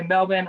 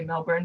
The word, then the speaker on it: Melbourne: minnesota would usually say melbourne before they knew how the australians pronounced it so we almost ignore that there's even an r in there but you can see